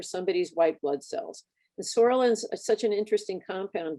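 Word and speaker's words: psoralen: takes this drug called sorelin the p is silent and then they go into a light box with uva so photophoresis does that same procedure for somebody's white blood cells and sorellen is such an interesting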